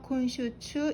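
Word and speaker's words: 今週中: 예를 들어서 콘슈추처럼 가운데 중자가 추로 읽히면 이번 주 중에 라는 뜻이고요. 그 다음에 시간 다음에 시간 다음에 주라고 읽히면 내내라는 의미가 되거든요.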